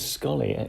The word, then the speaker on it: Sxollie: It is Scully. With an X. Sxollie. Yes. So it's a South African word.